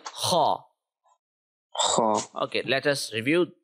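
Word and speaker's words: خ: If you remember, if you keep this sound in mind, the letter saw, the word saw in English, you will be able to pronounce every heavy letter very easily in the Arabic language.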